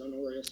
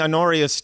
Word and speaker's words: Honorius: I always pronounce it Honorius.